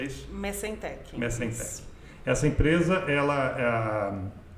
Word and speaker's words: Messentech: Se pronuncia Messentech, é isso? Messentech.